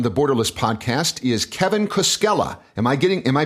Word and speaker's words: Koskella: guest today on the borderless podcast is Kevin Cella am I getting am I pronouncing that right yes you are Cella all